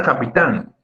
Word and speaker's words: capitán: No, de hecho la sílaba más fuerte es tan. Al ser la última de la palabra, o la primera, si es que comienzo a contar de derecha a izquierda, es aguda, definitivamente.